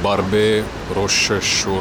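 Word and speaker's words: Barbès-Rochechouart: Barbes, Rochechouart. Barbes, Rochechouart. Something like that. Since then, I've learned that it's actually pronounced Barbes Rochechouart.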